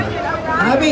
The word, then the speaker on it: Jaime: Jaime? Jaime. How you spell it?